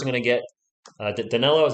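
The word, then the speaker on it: Danilo: chat here spurs are going to get uh daniello is how you say it and we're going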